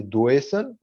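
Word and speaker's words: Deussen: Son nom en allemand, ça doit se prononcer Doessen.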